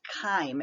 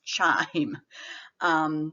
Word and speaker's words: chyme: changes into what's called chyme it's c-h-y-m-e it's not pronounced chime like ding-dong but chyme is a